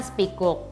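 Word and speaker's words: spekkoek: to speak up ya jadi kayak tulisannya spikuk atau spikelet gitu bacanya kan spikuk Nah sebenarnya Speak Up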